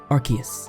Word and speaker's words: Arceus: And yes, I checked the official pronunciation. It is in fact Arceus.